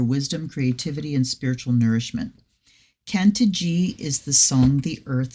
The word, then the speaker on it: Cantigee: lift up is that this is pronounced Kant G the canant G Oracle